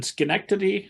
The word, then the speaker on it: Schenectady: Well, I had read that when you were young and you're living outside of I'm gonna mutilate this with my Indiana pronunciation, Schenectady, New York.